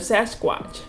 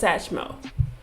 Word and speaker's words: Sasquatch: He tells the kids a scary story about the legend of Sasquatch, which the babies mispronounce as Satchmo.